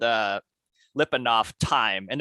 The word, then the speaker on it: Lyapunov: right so this this topic is called uh lipandoff time and it's spelled l-y-a-p-u-n-o-v and that was a is a